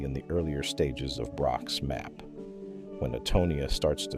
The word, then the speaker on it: Braak: The neuropathologist Heiko Braak, pronounced Braak, had proposed in 2003 that Parkinson's pathology begins in the lower brainstem and ascends.